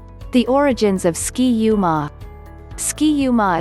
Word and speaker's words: Ski-U-Mah: origins of ski uma ski uma is a catchy slogan that the minnesota coaches came up with in 1884 to rhyme with rah-rah-rah and minsota it originally